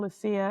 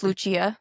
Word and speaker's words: Lucia: Well, it's either So, it's been Lucia and him so far. This whole personal without also found out. We are not pronouncing her name right. Is it Luchia? It's Luchia.